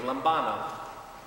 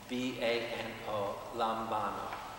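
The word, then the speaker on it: λαμβάνω: By the way, the Greek word for receive is, I'll spell it for you, lambano. It sounds like the Lombardi is, you know? L-A-M-B-A-N-O, lambano.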